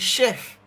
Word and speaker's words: chef: So the sound is sh but really and truly it is spelled with a ch.